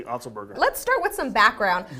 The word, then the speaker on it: Otzelberger: You said Otzelberger right.